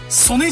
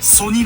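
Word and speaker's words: 曽爾: ほら見て三つ目ソネじゃないんだねソニだねソニっ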